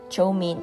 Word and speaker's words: chow mein: Chow mein is the Cantonese pronunciation of the Mandarin chow mian, which means stir-fried noodles.